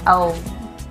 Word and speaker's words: Om: Now, how do you say Om? It's made up of three syllables, A, U, and M, the M.